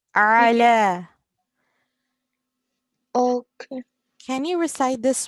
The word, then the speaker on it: على: it's we pronounce ayn from our throat. Ala.